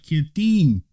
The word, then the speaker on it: Kittim: Kittim. The I is pronounced like an E.